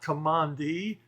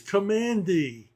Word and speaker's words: Kamandi: Therefore, it is not Commandi, it's Commandi.